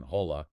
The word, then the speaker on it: hola: But in Spanish, it can be silent. Silent H. You mean like in hola? Yes. You see that H sitting there, and you just want to pronounce it.